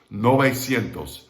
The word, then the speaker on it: novecientos: a lot in spanish when a ue is in a stressed syllable and then you make a longer word out of it it's not in the stressed syllable anymore the ue becomes an o so it's nove sientos